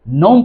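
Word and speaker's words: gnome: इसी तरीके से ग्नोम नहीं पढ़ेंगे, नोम पढ़ेंगे, है ना।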